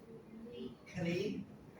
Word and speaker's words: knee: Knee. Knee, yes, knee. Back to the K when we don't pronounce it.